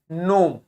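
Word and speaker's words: gnome: बाद एन लिखा है तो इसको जी को प्रोनाउंस नहीं करेंगे क्या बोलेंगे नोम ठीक है क्या बोलेंगे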